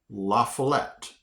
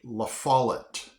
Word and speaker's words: La Follette: The next one I would have pronounced La Follette. La Follette. Okay. But it's actually La Follette.